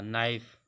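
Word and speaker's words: knife: जैसे के एन ओ डब्ल्यू नो जानना, के साइलेंट रहेगा। नाइफ चाकू, नी नेब धूर्त, एन के एन ए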